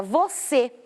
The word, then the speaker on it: você: Terceira palavra, você. Você, eu também separo as sílabas. A minha mais forte já é a última. Eu tenho a última e a penúltima. A mais forte é a última, o C.